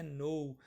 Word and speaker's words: know: Muito aluno fala que know. Pessoal, esse K é mudo, né? É know.